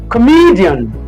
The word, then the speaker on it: comedian: Okay, the letter O is weak here.